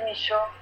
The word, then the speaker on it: Michaux: el siglo XX, Henri Michaux, Henri Michaux, se escribe Michaux.